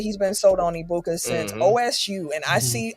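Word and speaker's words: Egbuka: Because for me, it's uh Ibuka because the G is silent in his name. Like lasagna, it's silent. Ibuka.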